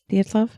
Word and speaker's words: Dyatlov: Is that how I pronounce it? Dyatlov? Yeah. Dyatlov.